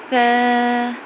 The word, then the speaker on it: ث: The next one is Ta sound is t t t t The next one is Tha To pronounce tha correctly, you need to put your tongue in between your teeth.